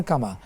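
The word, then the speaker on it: كما: উচ্চারণটা হলো রব্বির হামহুমা কামা, বোন যেটা বলেছেন কামা, মিম আলিফ আছে, টানটা হয়তো মনে পড়েনি, কামা রাব্বায়ানি সগীরা।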